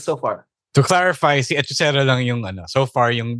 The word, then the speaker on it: Hechicero: Yeah, it's spelled Hechicero. So it's Hechicero. It's not Hechicero.